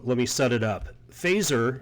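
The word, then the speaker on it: Feser: me set it up phaser and that by the way is the correct name correct way to say his last name wasn't specifically referring to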